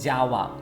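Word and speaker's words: যাওয়া: bangla java look at look at how i pronounce java java it's go go means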